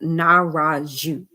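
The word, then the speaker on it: Nahrahdju: that's how it's pronounced the dj like that part has to be pronounced jew so pick it apart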